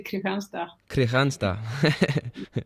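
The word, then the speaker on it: Kristianstad: there for almost yeah if you pronounce it in sweden you would say kriegensta that's that sounds almost danish now but uh uh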